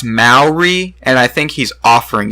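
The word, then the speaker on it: Māori: know if you would be interested in a Mallory mask from his people I am I think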